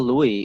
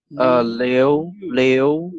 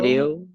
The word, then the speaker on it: Liu: It's not Louis, like it's Leo. Is that Leo? You know how to pronounce Leo? So it's Leo. Leo? Leo.